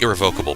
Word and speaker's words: irrevocable: I want to say irrevocable, but I'm pretty sure you don't put the emphasis on that syllable.